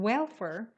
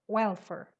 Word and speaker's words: welfare: fur welfare welfare on welfare the stress is on the first syllable welfare and there's only one